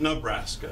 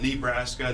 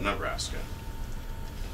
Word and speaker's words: Nebraska: the U.S so facts about Nebraska US locals pronounce it Nebraska not Nebraska not Nebraska but Nebraska it comes from an Otto Indian term meaning